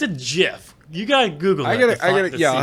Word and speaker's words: GIF: off it it's a jiff you got Google yeah I'll have to look it's a gift it's a Jif gift it's a hard G it's a because the word is graphics it's a hard well